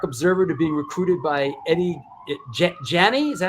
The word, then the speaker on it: Eddie Janney: Within about 6 months, Alec went from Punk Rock Observer to being recruited by Eddie Janney. Is that how you pronounce it? Eddie Janney, yep.